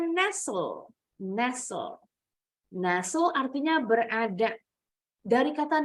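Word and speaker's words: Nestlé: kalau orang Indonesia bilang merk susu Nestle salah nih bukan Nestle harusnya nesul Naso artinya berada dari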